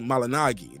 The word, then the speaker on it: Malignaggi: even say that and for the people saying I'm saying Paula malinagi instead of malignaggi he said his name is supposed to be pronounced that way when I used to follow and I used to watch your show it's supposed to be malinagi that's the way it's